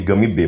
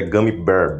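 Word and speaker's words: gummy bear: Bear o gumy Bear aqui no Nordeste a a gente chamava de Gami B mas eu sei que a pronúncia certa é gumy Bear be de urso né e Gami de goma o glutão clássico parece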